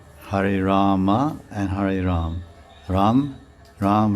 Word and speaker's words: Rama: no that's not right you're cutting some syllables it's okay rama because i could understand if you say ram there's no mother and four syllables are cut no rama so then i was